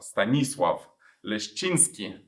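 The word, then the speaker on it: Stanisław Leszczyński: a Polish King stanislav stanislav linski you pronounce it like this in Polish and so he was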